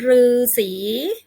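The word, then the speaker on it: ฤษี: คำ ว่า หรือ สี คำ นี้ นะ คะ อ่าน ว่า หา รือ สี หมาย ถึง นัก บวช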